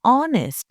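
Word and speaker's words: honest: ऑनेस्ट शब्द में एज तो लिखा है, लेकिन क्या आप उसे प्रोनाउंस करते हैं? नहीं, हम बोलते हैं ऑनेस्ट यानी भावेल साउंड।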